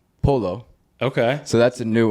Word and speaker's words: pollo: Oh, well, they pronounce their L's, so they're like pollo is polo.